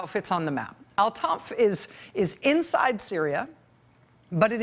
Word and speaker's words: Al-Tanf: Again, it's called Al-Tanf. I think that's how you say it, T-A-N-F.